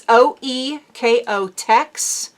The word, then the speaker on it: OEKO-TEX: by OEKO-TEX OE O E I can't even pronounce the word. It's OEKO-TEX.